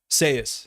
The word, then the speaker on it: Seis: So Seiss is like 6 in Portuguese, but we can tell you how you say it. Seiss, yeah, it's kind of 2 syllables.